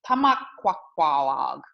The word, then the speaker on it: Tomaquag: And I picked that word because the word Tomaquag today means beavers in the plural. It's a little bit shorter than our ancestors once said it. So it's Tomaquag in a more correct pronunciation.